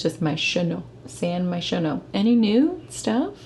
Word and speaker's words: San Myshuno: So San Myshuno, I assume is how you say it. So I just, in my brain thoughts, was just saying it wrong the whole time. I was closer than you were. I don't even remember what you said. But all I know is I thought it was San Myushino for some reason.